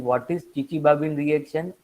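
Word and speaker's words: Chichibabin: इसमें आगे टी आता है लेकिन टी साइलेंट है, इसीलिए इसको चिचिबाबिन रिएक्शन कहा जाता है, बोला जाता है।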